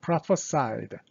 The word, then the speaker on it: prophesied: 그래서 이 o는 항상 a로 발음하시는 게 좋아요. prophesied.